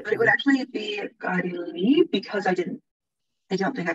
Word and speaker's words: غير المغضوب: Oh, it's here is a ghai, re, and that connects with the next verse. Ghairil maghdub.